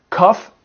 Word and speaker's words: cough: So the GH can be pronounced F. And that's a really strange thing. Let me give you a list of common words with F. So we have cough, and you cough.